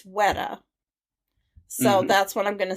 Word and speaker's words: Weta: wrong every time and according to what i read it's weta so that's what i'm